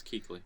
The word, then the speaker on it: Kuechly: Luke Kuechly. There you go. That's how you say his name, right? Yes, Kuechly.